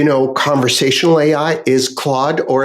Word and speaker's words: Claude: know conversational AI is Claude or as Canadians like to call it Cloe you know the French pronunciation but I do like